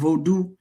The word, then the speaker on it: Vodun: o u comes from or vodu v o du n. The n is usually silent voodoo but we call it new African vod.